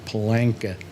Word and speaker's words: Paul Anka: Paul Anka. Who I like to pronounce his name as one word, Palanka.